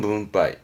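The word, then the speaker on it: 分配: 붕가이 분 배짜지 분배 발음은 눈 빠이 뭄바이 분배하는 문빠이 다음에 이거는 리자입니다 분리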